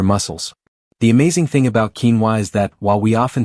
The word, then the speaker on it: quinoa: You might have heard of quinoa, pronounced quinoa.